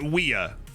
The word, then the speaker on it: Weah: Now, Weah is the way it's traditionally pronounced, but I think